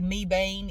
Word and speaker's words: Mebane: little city of meban it looks like Mebane me e b a n e but it's pronounced meban yeah we're getting a